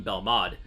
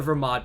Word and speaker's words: Belmod: the same syllable so why would we call one Vegeta and one bell mod the answer is that it's just wrong any of the ver mod pronunciations that begin with the letter V would be correct it hers happen and